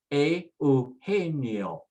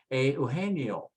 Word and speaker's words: Eugenio: The G, remember, if it comes before an E or an I, takes on an H sound. So let's say it now. Eugenio, Eugenio, Eugenio.